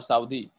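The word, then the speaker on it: Southey: Known है sorry, और उसका नाम है रॉबर्ट साउदे, साउदी या साउदे, ठीक है, साउदी वैसे ज्यादा इसकी मशहूर प्रोनाउंसिएशन है।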